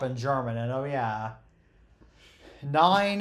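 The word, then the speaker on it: nein: German and oh yeah nine is how you say no in German which that sounds a little bit weird for English speakers because nine is a number yep and then how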